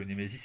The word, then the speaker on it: Némésis: Alors je le dis à la française, hein, mais c'est une revue anglaise, donc la prononciation de départ, évidemment, ce n'est pas celle-ci.